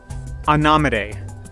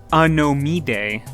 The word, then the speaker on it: Anomidae: Anomide. Yes, that's how you pronounce it. Not anomide, not a gnome a day, but Anomide.